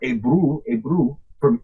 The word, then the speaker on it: Eber: Okay, and of course, Eber, I disagree with that name. It should be Hebrew, or Ebru, for where you get Hebrew. And that's the way it's spelled, but, everybody wants to say Eber.